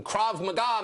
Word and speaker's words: Krav Maga: Krav Maga, I'm pronouncing that correctly.